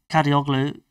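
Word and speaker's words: Kadıoğlu: It's a good pronunciation. Kadioglu.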